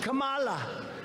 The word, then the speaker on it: Kamala: do you pronounce it it's with a comma like a comma right like a comma remember he couldn't pronounce her name he was saying her name wrong and she tried to interrupt him know my name was kamala like comma i remember that like